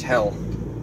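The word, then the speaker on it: Hele: Turn right on Hell Crescent. Yes, it is Hell, and a crescent. It's spelled H-E-L-E.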